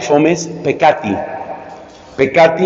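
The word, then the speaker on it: fomes peccati: tiempo y ganas que se llama fomes así como se oye fomes con la f fomes pecati en latín se escribe con dos ces o sea P E ccatimes pecate fumes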